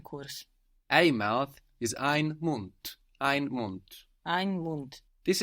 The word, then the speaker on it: Mund: But the D being on the end of the syllable is being pronounced hard.